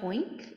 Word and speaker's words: Hoeynck: I'm Hoeynck. It's pronounced like oink with an H at the beginning, but it looks really different.